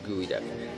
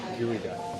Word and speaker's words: geoduck: good too oh called geoduck it's not I think the Pokemon is geoduck but yeah it's actually pronounced gooey duck I don't know how